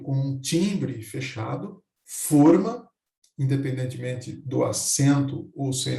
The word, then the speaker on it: forma: Se eu pronuncio com um timbre fechado, forma, independentemente do acento ou sem acento, significa molde e recipiente. Se eu pronuncio forma, significa formato, aparência, modo.